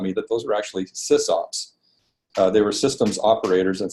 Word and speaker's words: sysop: And there was, I kept reading about these SysOps that existed in the computer, in the the networking, network management, BBS management world. And it was spelled SYSOP, and that's how I learned to pronounce it, was SysOp, because I had never